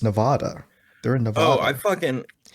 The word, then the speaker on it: Nevada: It's like people who pronounce Nevada wrong. They're like, it's Nevada.